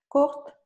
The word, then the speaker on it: court: Courte. Merci beaucoup. On ne va pas prononcer le T. Court. Court.